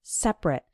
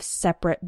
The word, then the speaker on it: separate: Now, when the word is used as an adjective, then we pronounce it like separate. For example, men and women have separate bathrooms. And when it's used as a verb, then we pronounce it separate.